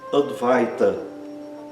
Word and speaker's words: advaita: O I é é pronunciado exatamente como no português. I. Outro exemplo, advaita.